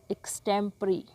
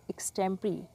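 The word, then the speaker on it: extempore: A speech delivered without preparation, एक ऐसा भाषण जिसकी पहले तैयारी ना की गई हो, इसको कहेंगे एक्सटेम्परी। प्रोनाउंसिएशन थोड़ी सी डिफरेंट है, एक्सटेम्परी।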